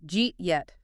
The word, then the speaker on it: did you eat yet: Jeet yet. Jeet yet. It literally sounds like a greeting in a science fiction movie. How do you get from 4 distinct words, did you eat yet, to 2 syllables?